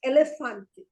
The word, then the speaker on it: elefante: Okay, the word elefante is, the first E is E, the second E is L, and the last E is fante. It is hardly pronounced. Okay, so it is elefante.